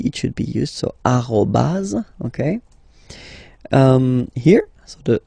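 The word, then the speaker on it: arobase: So arobaz.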